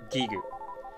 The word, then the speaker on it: Giygas: gue or something but the original Japanese pronunciation was gigoo come earthbound the final